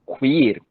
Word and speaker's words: queer: Essa é a pronúncia, Mário? Queer, né?